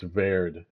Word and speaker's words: Cabo Verde: Because yeah, my I learned Spanish, so I'm going to pronounce it Verde Ve- like the second part, Verde, but it's a Portuguese-speaking country, which I've learned. So, I think it's Verde is the right correct way to say it.